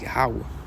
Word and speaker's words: Yahweh: That's not even the true pronunciation, man. It's Yahweh. Right?